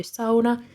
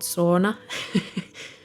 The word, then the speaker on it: sauna: nails and going to sauna. And yes, that's actually how you pronounce it in Finnish, not sauna.